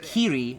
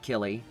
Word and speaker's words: Kiri: Well, Tempest Mask, the name for the blame protagonist is Kiri, not Killy. You are using the Japanese pronunciation, and L's and R's are the same Kiri. in that language. It's Kiri.